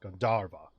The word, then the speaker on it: Gandharvaville: Gandharvaville. So yeah, second syllable stress. Gandharva.